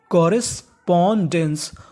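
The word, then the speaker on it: correspondence: सी O double R एस कोरेस इसे क्या पढ़ेंगे हम लोग कोस क्योंकि आर दो बार है पढ़ना खाली एक बार है कोरेस पी डी ओ N porn और आखिरी में लिखा है ई एन सी ई इसे पढ़ते हैं एंस और उससे पहले डी तो मीनिंग डेंस पूरी मीनिंग कॉरेस्पोंडेंस कॉरेस्पोंडेंस कॉरेस्पोंडेंस का मतलब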